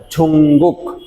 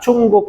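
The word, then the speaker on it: 중국: এইভাবে জুঙ্গুক শব্দটি উচ্চারণের ক্ষেত্রে আপনি লিসেনিংয়ে অনেকটা চুঙ্গুক শুনতে পারেন, চুঙ্গুক, ঝুঙ্গুক, চুঙ্গুক, এরকম। জনুন চুঙ্গুক সারাম ইমনেদা, জনুন চুঙ্গুক এস ওয়াসমনেদা, এইরকম শুনতে পারেন লিসেনিংয়ে।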